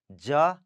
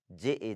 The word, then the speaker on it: ज: उसके बाद है ज, ज, ज. ठीक है, दिस इज ज, JA, ज.